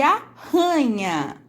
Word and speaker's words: arranha: Leiam este par de palavras, aranha e arranha. Observem só, a única diferença entre as duas palavras é que a aranha tem um R só e o arranha tem dois R's. E veja como muda o som.